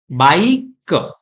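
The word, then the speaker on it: bike: हम पढ़ेंगे बाई क बाइक इस तरीके से पढ़ना है ई की साउंड हमें यहां पर नहीं बोलनी है मतलब बाय के ऐसा नहीं बोलना है यह साइलेंट ई रूल है कुछ और एग्जांपल्स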